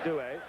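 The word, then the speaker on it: Duhe: He does want it pronounced Dewey, so we will go along with his wishes.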